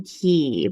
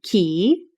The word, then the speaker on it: Cay: I think from like a marketing standpoint, from a brand standpoint, we're pronouncing it Key.